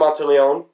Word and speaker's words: Monteleone: Monteleone.